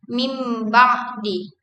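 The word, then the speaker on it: مِن بَعْدِ: Contohnya, kata min ba'di diucapkan menjadi mim ba'di.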